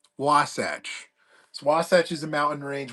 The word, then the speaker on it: Wasatch: How do you pronounce my name? Wasatch.